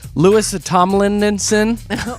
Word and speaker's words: Louis Tomlinson: A couple of the prizes that have already been picked, the Louis, I was going to say his name wrong, Louis Tomlinson.